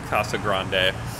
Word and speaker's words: Casa Grande: If you follow the Spanish diction, it's Casa Grande.